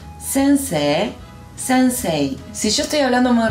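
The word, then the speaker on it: 先生: O con una I. Por ejemplo, sensei. Y en velocidad media, las dos maneras están bien pronunciadas. Sensei. Sensei.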